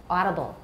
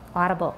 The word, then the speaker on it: audible: made audible audible yeah oh some people might say it that way but in american it's ah audible audible it sounds like a guangcao so that they can